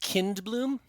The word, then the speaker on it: Kindbloom: It's pronounced Kindbloom, Kindbloom.